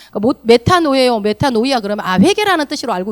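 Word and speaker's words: μετάνοια: 헬라어 발음이다 보니까 메타노예요, 메타노이아 그러면 회개라는 뜻으로 알고 계시면 돼요.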